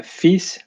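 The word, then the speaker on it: fils: we have uh the the letters f-i-l-s it can be pronounced uh fees for example so it's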